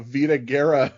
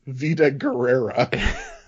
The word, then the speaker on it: Vida Guerra: Although he does pronounce her name as Vida Guerrera.